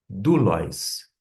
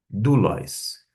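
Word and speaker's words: δοῦλος: Em vez de oi, você pronuncia u desta forma. Como é que pronuncia servo? Dulis. Dulis.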